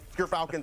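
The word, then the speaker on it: Gyrfalcon's: We actually, off screen, we're figuring out how it's pronounced. But Gerfalcons, everyone, so anyone who mispronounces it, that's how you say it.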